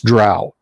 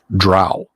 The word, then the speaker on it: drow: how did Gary pronounce drow s and cow or drow with throw um I've always said drows rhymes with cow the time okay so